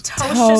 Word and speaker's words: Ptosha: No, the P is silent, huh? Not the T. Okay. So it's Ptosha, and that's my handle. Ptosha.